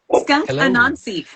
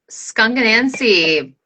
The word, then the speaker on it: Skunk Anansie: I looked it up. It is Anansie with the emphasis on Nan, because Anansie is the trickster goddess of